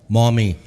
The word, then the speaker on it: Maumee: Is that how you pronounce it? Mommy. Think about an Indian lady carrying her baby across a bridge, and the baby fell and said, "Mommy."